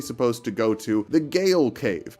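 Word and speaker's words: Gaol: We use it as we move through the Gale. If you want to say it's pronounced jail and not Gale, that's fine.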